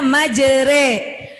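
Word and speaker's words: مَجْرٰىهَا: Tulisannya majroha, patah berdiri, tapi dibacanya majre.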